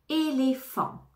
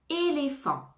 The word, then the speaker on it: éléphant: éléphant éléphant F et le pH va se prononcer comme un f éléphant éléphant et le t final ne se prononce pas éléphant éléphant énergie énergie énergie